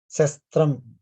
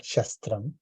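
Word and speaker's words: शस्त्रम्: Okay, so small note on the pronunciation. That is asa sa sha. It is like a shastram. That is the right way, not shastram. But of course, it is fine if you are used to.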